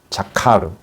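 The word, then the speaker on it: זכר: 우리가 기억이라고 했지만 다른 성경에서는 다르게 어떻게 번역이 되냐면 이 기억이라는 그 원어가 자카르. 이게 중요한 단어니까 한 번씩 발음을 해보세요.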